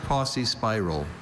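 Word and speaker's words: paucispiral: Are there any alternate pronunciations? Just posy spiral.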